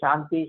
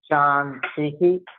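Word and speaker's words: शान्तिः: We should not say Shanti, Shanti, Shanti. But what you could do is easy way. Om Shantihi, Shantihi, Shantihi. Right? So that we can say it comfortably with correct pronunciation.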